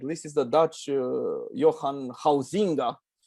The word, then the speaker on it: Huizinga: for me at least, is the Dutch Johan Huizinga. It's written Huizinga, but they pronounce it Huizinga, something like that.